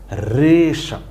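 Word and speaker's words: হ্রেষা: ডাকের সংক্ষিপ্ত এক কথা রেশা হ রফলা এককার রে মূর্ধন্য আকার কি হইছে রেশা তাইলে আমরা হ এর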